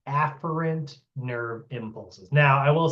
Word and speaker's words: afferent: Sometimes you'll hear people say efferent because it's easier to hear, but that is mispronouncing it. So you have afferent neurons.